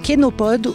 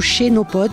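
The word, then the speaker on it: chénopode: Donc on a ramassé aussi une plante qui est comestible qui s'appelle kénopode ou chénopod puisque ça s'écrit ch et c'est en fait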